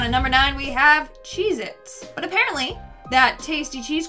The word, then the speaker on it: Cheez-It: number nine we have cheez-its but apparently that tasty cheese cracker is not called cheez-its it's cheez-it either i've been saying it